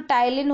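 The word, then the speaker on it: ptyalin: है तो उसका नाम टायलिन होता है अगर आप इंग्लिश में पढेंगे तो पीस साइलेंट और टाइल इन आगे का विटामिन को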